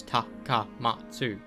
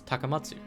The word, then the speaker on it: Takamatsu: Takami taka matu people won't read it as taka matu people read it will read it like taker T Tak takam matu like no it's takamatsu taka um um what other Japanese names kind